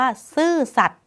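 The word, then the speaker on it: ซื่อสัตย์: เลย ค่ะ คำ ว่า ซื่อ สัตย์ ไม้ ทัณฑฆาต กำกับ อยู่ บน ย ยักษ์ นะ คะ ไม่ ออก เสียง ย ยักษ์ ค่ะ อ่าน ไป เลย ว่า ซื่อ สัตย์ และ เรียก ว่า ย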